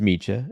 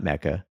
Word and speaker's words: Mecha: So I drove out to Melissa's sparkling clean South Jersey production facility, and we talked about how it's actually pronounced Mecha and not Mecha, what hand dipping is, how to balance a